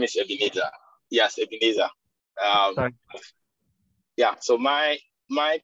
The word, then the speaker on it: Ebenezer: last question uh sorry for my pronunciation uh pronunciation benezette yes my name is ebenezer okay yeah so my my question has to